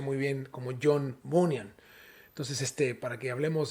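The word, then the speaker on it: John Bunyan: vamos a hablar acerca de un hombre llamado john bonham muchos le llaman así o también se pronuncia muy bien como john von yang entonces este para que hablemos de la misma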